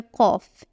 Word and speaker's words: ق: Qaf is like the deep, mysterious cousin of Fa. It is pronounced from the back of the throat, giving it a rich, emphatic sound that's somewhere between K and Q.